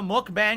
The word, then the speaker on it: mukbang: It's a Korean term. It's pronounced really? mukbang.